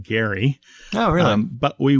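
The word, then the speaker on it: Gerry: meaning old men or the pronunciation of Jerry Mander the guy's name was originally pronounced Gary oh really um but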